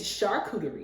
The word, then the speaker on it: charcuterie: I always say it wrong. But it's charcuterie.